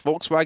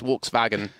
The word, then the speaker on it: Volkswagen: So if you ever hear like someone say Volkswagen, in English it's Volkswagen, in German it's Volkswagen.